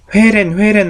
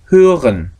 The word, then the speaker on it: hören: 그 다음에 이게 hören. 회렌 하는 데가 아니에요. hören. 회렌 말고 hören. 정확히 발음하시기 바랍니다.